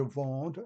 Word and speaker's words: vends: Note that the S at the end of a verb in the French language, the verb sound, is not pronounced.